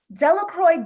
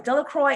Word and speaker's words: Delacroix: And the true pronunciation, because I'm American, I'm gonna say Delacroix. The true pronunciation, French, is Delacroix. The villagers' pronunciation, Americans, Delacroix, right?